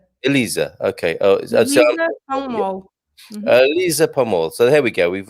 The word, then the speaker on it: Elisa: um alyssa and now if i if it to say that name correctly with the portuguese pronunciation which would she be elisa elisa so there we go